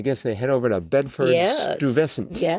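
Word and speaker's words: Bedford-Stuyvesant: It's Bedford Stuvescent.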